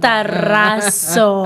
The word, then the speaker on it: Razo: me say that Mara raso I love pronouncing my name rolling the r because that's a Latina